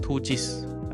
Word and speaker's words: 2GIS: you can also use other apps or 2gis 2gs that's how they pronounce but 2gs right is a very localized